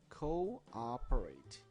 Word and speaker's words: cooperate: 발음이 cooperate 이렇게 아예 강세가 있습니다.